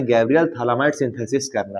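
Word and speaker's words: phthalimide: Synthesis P थैलामाइड synthesis P यहां पर silent है। ठीक है? थैलामाइड synthesis. तो यहां पर sir Gabriel थैलामाइड synthesis Gabriel थैलामाइड synthesis से पहले मैं आपको क्या सिखाना चाहता हूं?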